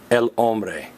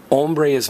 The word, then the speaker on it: hombre: hungry ok so remember hombres man see the Oh everybody say oh man go oh man and hombre is hungry and one final notice the H is silent you don't say hombre